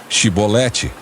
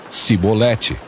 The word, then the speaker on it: chibolete: o homem negasse eles o mandavam dizer chibolete se ele era de Efraim dizia sibolete pois o povo de Efraim não consegue pronunciar essa palavra corretamente então eles o capturavam